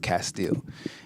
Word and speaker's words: Castille: a music on iTunes everything is under Castile r om e CA STI ll e once again CA STI ll en it's pronounced Castile and uh yeah thanks for rocking with me